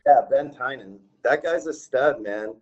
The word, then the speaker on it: Tynan: Yeah, Ben Tynan.